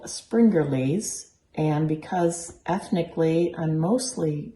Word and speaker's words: Springerle: springerly cookies yes how do you say springerly springerly very good it is actually a really simple